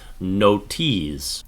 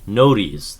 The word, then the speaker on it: Notease: My word for this is going to be Notease, and that is basically the shortened version of notification. Notease, that's what people say, but it's spelled differently. This is spelled like no and tease, because did you get a notification?